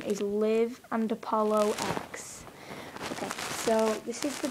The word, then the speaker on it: Liv and Apollo X: By the way, the name pronunciation is Liv and Apollo X.